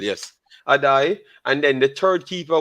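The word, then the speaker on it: Addai: Corey Adai. Adai. Right. Oh, that's spelled Addoi. Yes, I think that's how it's spelled. Yes, Adai.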